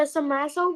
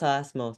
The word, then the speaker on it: SASMO: After the samaso, we still have like more studying like this or not. What is samaso? It's pronounced sasmo.